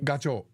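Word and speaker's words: ガチョウ: goose in Japanese Goose goose in Japanese is gacho gacho yeah Alexa how do you say Gander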